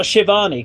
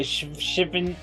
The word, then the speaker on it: SHvininiai: But it's not Shivani because there's no S, there's no I after the H. So Shivini.